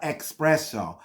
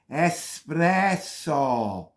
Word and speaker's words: espresso: wrong wrong it's not expresso there's no X in the word there's no X it's not expresso espresso espresso is the word not expresso my God I